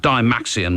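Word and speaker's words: Dymaxion: the Sound City week I did go for evening classes to learn how to pronounce the name of this band but I've forgotten what I was told but da maxian will do d y m ax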